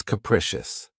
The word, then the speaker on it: capricious: of my favorites, is capricious. This word has 3 syllables, and the stress is on the second syllable. Keep in mind that the first syllable has that schwa sound. Precious. Capricious.